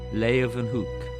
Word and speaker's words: Leeuwenhoek: has ever seen before l-a-y lay ooh then they pronounce it with a v hook lay of an hook anthony van leeuwenhoek he was a haberdasher